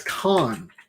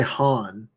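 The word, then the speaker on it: 漢: spelled chinese obviously and it's khan i always want to say han because like han china all that that's khan uh this is this achievement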